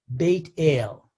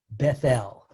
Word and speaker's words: Beit El: And the following morning, Jacob erects a stone monument and names the place Beit El. In its anglicized pronunciation, Bethel, which means the house of God.